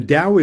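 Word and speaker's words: Tao: The dao is one and the t or day. Dao is spelled t- ao and t or day is spelled t e h.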